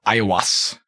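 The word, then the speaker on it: Aiwass: claimed by a being that was calling himself ayawas and i guess there's three chapters that are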